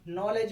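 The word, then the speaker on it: knowledge: अब नॉलेज में बोलो दो अक्षर साइलेंट है। एक तो अपना के साइलेंट है और एक अपना डी भी साइलेंट है। डी वाला नियम बताए थे ना जब किसी शब्द में जी के पहले डी आ जाए तो उसमें डी का उच्चारण नहीं होता है। अर्थात नॉलेज शब्द में दो अक्षर साइलेंट है। पहला तो के है, दूसरा डी है।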